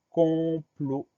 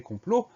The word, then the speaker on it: complot: On a une lettre muette à la fin de complot, c'est le T qu'on n'entend pas, mais qu'on va retrouver dans le verbe comploter.